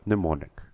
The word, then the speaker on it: mnemonic: same we could as the word mnemonic the m is silent in her back her